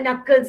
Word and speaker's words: knuckles: These are the knuckles here. See here? K is silent.